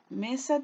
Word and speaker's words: mesa: palabra por ejemplo mesa meza tiene dos y la me donde se carga la voz en mí y la palabra me hace perder la sílaba me es la penúltima sílaba las sílabas a sería